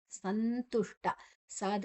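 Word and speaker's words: ಸಂತುಷ್ಟಃ: ಮನೋಬುದ್ಧಿರ್ ಯೋಮ್ಭಕ್ತಸಮೇ ಪ್ರಿಯಹಸಂತು ತುಷ್ಟಸತತೈಯೋಗಿ ಸಂತುಷ್ಟ ಸದ ನಂತರ ಅನುಸ್ವರದ ಉಚ್ಚಾರಣೆಯನ್ನ ಸಂತುಷ್ಟ ತು ಮತ್ತೆ ಶು ಟ ಶು ಮತ್ತೆ ಟ ಎರಡು ಅಕ್ಷರಗಳು ಸೇರಿದೆ ಶ ಷಣ್ಮುಖ ಶ ಟ ಸಂತುಷ್ಟಸ್ ಸ ಆದ ನಂತರ ವಿಸರ್ಗದ ಉಚ್ಚಾರಣೆ ಅದನ್ನ ಮುಂದಿನ ಅಕ್ಷರ ಸ ಇದೆ ಸಂತುಷ್ಟ ಸತತೈ ಸತತ ನಂತರ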